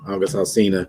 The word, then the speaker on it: August Alsina: Alsina, and that how you say his name, August Alsina.